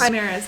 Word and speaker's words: chimeras: the the people who chimeras chimeras that's how you say it people who have two